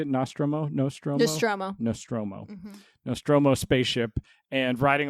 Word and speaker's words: Nostromo: Nostromo.